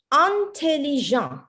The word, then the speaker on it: intelligent: Mais en français, c'est un intelligent. Intelligent. Intelligent. Intelligent. You notice the I? You notice the I, it's not pronounced as E, important, intelligent. It's like you're stopping Intelligent.